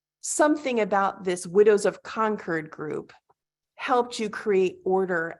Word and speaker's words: Concord: widows of Concord right am I pronouncing conquered correctly conquered correct conquered and that support group